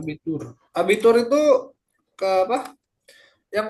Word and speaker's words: Abitur: Astagfirullah, Dulu, saya bacanya Arbeit. Itu Schüler. Das Abitur. Abitur.